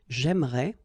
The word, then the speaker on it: j'aimerais: the same thing, because even if you get this here and here, you don't pronounce it. So it will go like j'aimerais, or then j'aimerais. Remember, phonetically they are the same, okay?